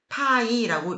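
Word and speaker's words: π: 숫자다 생각을 하는게 쉽습니다 그리고 우리가 이거를 한국어의 발음으로 읽을 때에는 파이라고 읽어줍니다 파이 원주율을 기호 파이로 내면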